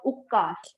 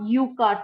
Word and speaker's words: Ukar: Okay, so it's called ukkar chanting, not ukar chanting. Okay, its pronunciation is ukkar chanting.